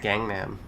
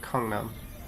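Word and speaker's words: 강남: An English speaker would see that and say Gangnam, right? Because it's literally the word gang and nam, but it's actually like Gangnam.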